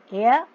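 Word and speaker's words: heir: इसमें आप रूल्स भी देख लीजिए, ज्यू ज्यूस, स्टूवर्ड स्टूवर्डिस, एयर, देखो इसको हेयर नहीं बोलते, एयर, एच साइलेंट है ना, एयर एरिसिस, टाइगर टाइग्रेस,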